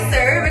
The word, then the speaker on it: Soeur: you're very much hanoi we just opted to pronounce an answer so why sir because we're two sisters behind this whole fashion